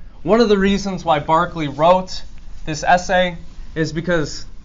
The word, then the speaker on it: Berkeley: like Berkeley California but it's pronounced Barkley because he's an Irish guy okay Barkley argues that we have